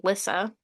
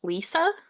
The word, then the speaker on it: Lissa: and the main character, her name's Lissa, but Lexi Girl kept pronouncing it as Lisa.